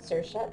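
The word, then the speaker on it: Saoirse: means freedom that's pretty cute a cool name sersa we've never had one no definitely not it's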